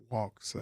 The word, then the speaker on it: Waxahachie: Okay, first we're gonna have to get, the A is silent, so it ain't wax, it's Waxahachie. Waxahachie.